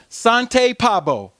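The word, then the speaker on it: Svante Pääbo: How you pronounce it is Sante Pabo.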